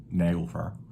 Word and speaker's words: Naglfar: And correct pronunciation as well. Naglfar.